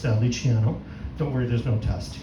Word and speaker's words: Luciano: But you'll notice my name is Italian. It's properly pronounced Luciano.